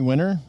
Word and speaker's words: Wiener: It's directed by Henry Weiner, or Weiner, however you want to pronounce his last name. I don't know. That would be Wiener. Is it Weiner? Wiener.